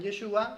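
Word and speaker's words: ישוע: galileos en yeshua sí Entonces los judíos ahora pronuncian yeshua y por eso nosotros pronunciamos yeshua ya que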